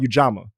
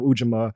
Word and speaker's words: ujima: Cooperative investment club right it was called uama it was an Americanized uh pronunciation of ujima which for folks don't